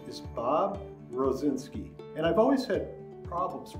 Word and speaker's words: Rosinsky: my name is bob rozinski and i've always had problems pronouncing my name when i was a little